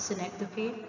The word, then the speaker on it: synecdoche: The following are the samples of figure of speech: simile, metaphor, personification, synecdoche, or others pronounce it as synecdoche, metonymy, allegory, hyperbole, irony.